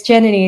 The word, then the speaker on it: Jenny: It's Jenny. It's like Melanie with J and two ends.